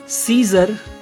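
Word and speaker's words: scissors: या अगर किसी शब्द के शुरुआत में S और C आते हैं, SC, और SC के बाद कोई वॉवेल होता है तो C का उच्चारण वहाँ पर नहीं होता। For example science, सीजर, scientist.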